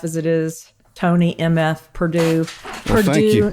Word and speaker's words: Purdue: accent so I'm like it's Purdue like the chicken not the college and they were